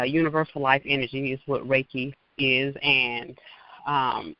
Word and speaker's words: Reiki: you I want you to speak about the raiki and it's spelled re e i k i if anyone wants to Google it if you're not familiar with that practice yes uh raiki raiki has been it's been life altering for